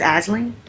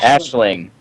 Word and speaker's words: Ashling: I think it's Aling. You guys have a friend named Alen. I'm just saying. Ashling. Ashling. All right. Ashling. I've been saying it wrong.